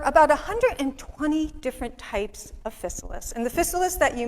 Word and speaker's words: Physalis: And there are 3 different pronunciations of Physalis. There's Physalis, Physalis, and Physalis. You pick the one you like. We say Physalis.